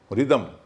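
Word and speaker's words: rhythm: G के बाद silent होता है, R के बाद साइलेंट होता है, रिसस, राइनो, रिदम, राइम, उसको राइम नहीं बोलेंगे।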